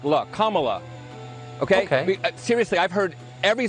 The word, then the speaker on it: Kamala: more than camela Harris her name is pronounced comma like the punctuation mark look Kamala okay seriously I've heard